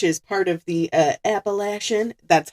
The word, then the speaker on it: Appalachian: Um, it's got beach, farmland, and mountains, which is part of the uh Appalachian, that's how it's pronounced.